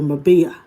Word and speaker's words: Marbella: Let me pronounce it like Spanish people, Marbella.